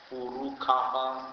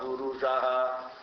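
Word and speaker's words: पुरुष: In Sanskrit, Sha can be pronounced as Ka. If you go to Himalaya, they say Sahasrasir Sha Purukha, they will say. Actually it is Sahasrasir Sha Purusha Sahasraksha Sahasrapad.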